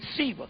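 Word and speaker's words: Siva: Shiva, yeah, it's S-I-V-A, but it's pronounced Shiva.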